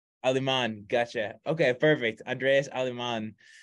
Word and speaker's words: Aleman: we got a special guest on today Andreas almond is it almond is it correct pronunciation last name yeah uh it's Aleman aliman gotcha okay perfect Andreas aliman uh so really